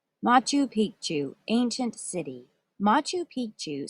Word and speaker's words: Machu Picchu: counterpoint the royal treatment machu picchu was a royal estate machu picchu pronounced ma-chu was a city that